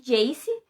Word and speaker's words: Jace: a chamar ele de Jace, que é JC, né, a pronúncia de J e C em inglês.